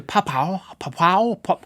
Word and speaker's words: Papua: Follow me to Papua.